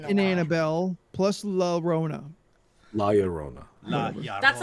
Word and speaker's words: La Llorona: you got to remember, give it that my Sharona, and that's how I now know how to say it because I go La Llorona.